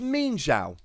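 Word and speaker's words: Mienshao: we're here I've gone and looked up the pronunciation it's mean shout there we go mean Shou you learn something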